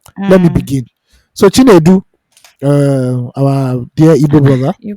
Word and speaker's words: Chinedu: So Chinedu, our dear Igbo brother, You pronounce that name well.